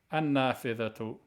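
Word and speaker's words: النافذة: When you're reading the word and you're going to not pronounce the ending, if it ends in a ta marbut, you pronounce it as a ha. An-nafidhatu. If you pronounce it, an-nafidha. If you don't pronounce it, an-nafidha. You have to stop on a ha.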